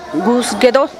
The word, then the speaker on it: Gadoo Gush: Se escribe Gadogush, pero se pronuncia Gusguedo, que quiere decir Iglesia Vieja en zapoteco.